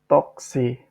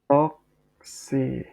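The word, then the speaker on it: تاکسی: Nah, kalau teman-teman ingin memesan taksi, maka teman-teman tinggal bilang toksi. Jadi bahasa Persianya taksi adalah toksi.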